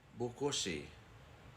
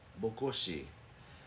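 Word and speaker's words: Bokoshe: next one is this one right here it's pronounced buosi buosi and it comes from two words book meaning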